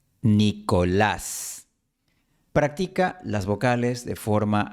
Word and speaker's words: Nicolás: Nicholas, Nicolás. Practica las vocales de forma aislada. I, O, A. I, O, A. Nicolás. Por cierto, la L española se pronuncia con la lengua empujada hacia el frente, mientras que la L